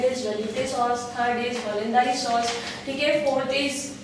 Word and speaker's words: hollandaise: इसका pronunciation है espagnol. बोलो espagnol sauce. ठीक है? Then third is hollandaise. Hollandaise नहीं hollandaise.